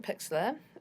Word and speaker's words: Pixlr: Okay, so I'm in Pixlr and I'm going to, and it's spelled like that without the E, and I'm going to launch the web app.